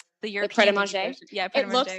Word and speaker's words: Pret A Manger: yeah, but it's pronounced pret a manger.